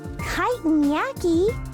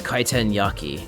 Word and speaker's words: kitan yaki: Kiten yaki. What an interesting name. We call them discus cakes. Also, you're pronouncing it incorrectly. It's kiteen yaki.